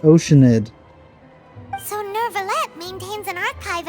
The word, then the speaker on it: Oceanid: It's pronounced Oceanid.